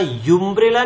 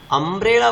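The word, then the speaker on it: umbrella: आप कहोगे यहाँ तो यूरोपियन बना, लेकिन यहाँ यूम्ब्रेला नहीं बना, अम्ब्रेला बना। यहाँ पे क्या बना दोस्तों, इसका अम्ब्रेला, अ बना इसका उच्चारण।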